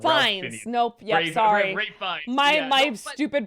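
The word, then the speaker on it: Ralph Fiennes: I thought Ralph Phineas was brilliant in it. You know, I've never heard it said that way, but you're right. That is how it's spelled. Fines. Nope. Yep. Sorry. Ray Fiennes.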